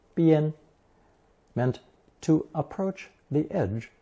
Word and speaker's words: 边: With the addition of the movement radical chòu on the left, this new character, still pronounced first tone bian, meant to approach the edge of a cliff, and now simply means the edge, side, limit, or border of anything.